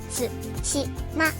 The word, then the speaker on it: 津島: 発音のアクセントは対馬ではなくつしまです。